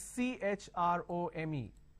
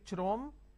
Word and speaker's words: chrome: now here this is c-h-r-o-m-e can I say Chrome like Google Chrome no the pronunciation is Google Chrome so when you have